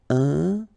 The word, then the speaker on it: important: So final T not pronounced. And then remember, you've got this EM, and after that it's a consonant, so it is here nasal. Important.